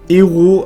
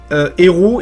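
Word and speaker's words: héraut: héros il l'ont marqué h e r a u t parce que c'est le nom du mec et du coup ça fait héros tu voi mais ça sort la prononciation mais ça s'écrit pas pareil à la fin de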